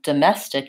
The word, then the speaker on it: domestic: bowel and then again domestic even though we spell that with an O it's a vowel schwa it's the UH sound so duh mess tick and there's my vowel yeah and get my other comment unstressed vowel sound same as in pink pig domestic yeah I think